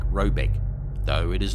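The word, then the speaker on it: Råbäck: guard in question is to be called rayback pronounced something like robec though it is not its name it is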